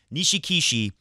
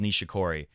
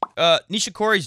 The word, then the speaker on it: Nishikori: Nishikishi is literally what a guy I played tennis with some years ago called Nishikori.